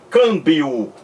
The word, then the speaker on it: câmbio: coisa na palavra câmbio o m da palavra câmbio não é pronunciado como o emmy de merda como o emmy de minha em minha 61 m uma palavra câmbio você não pronuncia o m o enem não é letra não é letra na palavra câmbio é apenas um sinal de nazaré são da vogal anterior que vem antes então